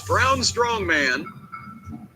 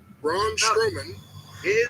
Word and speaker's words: Braun Strowman: Fatu and his opponent by the way was brown strongman Braun strowman that's sometimes people mispronounce it that way and yes he's been